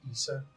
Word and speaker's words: Issa: It's Issa. Not Not Ida. Ida. Not Ida. Issa.